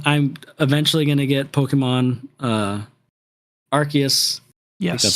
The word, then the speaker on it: Arceus: I'm eventually gonna get Pokemon Arceus.